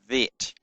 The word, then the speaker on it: Vet: But when it does not have a dot in it, it is pronounced with a soft sound, V, as in vine. And so the Bet is called a Vet with a V.